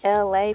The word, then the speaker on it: LA: Thank you so much for coming in today on Taco Tuesday with LA, pronounced like LA, like the city.